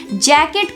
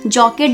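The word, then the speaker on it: jacket: जैकेट को English में जैकेट ही बोलते हैं, मगर कुछ लोग इसको जॉकेट भी बोलते हैं, बट इसका सही प्रोनाउंसिएशन जैकेट है।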